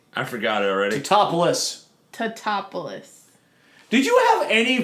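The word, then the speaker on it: Tatopoulos: Oh, it's Nick Topolapa! Really, Joe? You know how to say the goddamn name. I forgot it already. Totopoulos.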